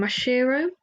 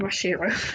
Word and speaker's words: Mashiro: about um the show and the group um masiro who I constantly mispronounced your name so sorry about that I